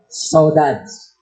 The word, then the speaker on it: saudade: So, the title of our art fest is Saudades. So, it's a French, Portuguese word. Kung basahin natin, saudade. Dami pronunciation. Saudade, saudade. Sa Amerikano, saudade sa atin. Saudade, saudades ang pronunciation.